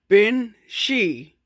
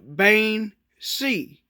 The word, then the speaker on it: Bean Sidhe: modern irish i believe the old irish translation is bin she and the modern irish is bain c so you know as